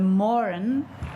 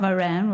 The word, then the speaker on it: Moran: I'm very excited that it's actually the Morin and not Moran. We've all been saying Moran, and not, which I'm often called.